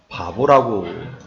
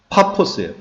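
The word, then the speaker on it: Paphos: 구브로에서 먼저 살라미를 들리고 살람이 바보이 이름을 갖다가 바보라고 붙일 일는 없겠죠 그 우리나라 발음이고 영어로는 어떻게 돼 있어요 영어로는 파포스 파포스 파포스 그래서 피 발음을 갖다가 우리나라 사람들은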